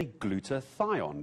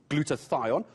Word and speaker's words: glutathione: If COVID-19 had knocked you down for a little while, you might have what is known as a glutathione deficiency.